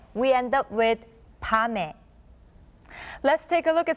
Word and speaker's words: 밤에: When the 받침 미음 is followed by a vowel sound, the 받침 sound becomes silent and carries on to the following vowel sound to be pronounced as the first sound in the next letter.